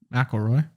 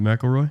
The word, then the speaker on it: McIlroy: McElroy. Did I say it wrong? You said McElroy? Is it McIlroy? Yeah.